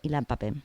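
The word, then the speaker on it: Ilan Pappé: Israel autor ilian papé Ilan papé con la primera es una p Y luego vienen dos PS y un acento en la e la traducción es de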